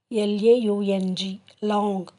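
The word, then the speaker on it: लौंग: லாங் இதை நம்ம எப்படி ஹிந்தியில் ப்ரொனவுன்ஸ் பண்ணுறதுன்னா LAUNG, லாங்.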